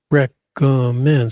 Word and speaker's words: recommend: Recommend. Stress on the third syllable.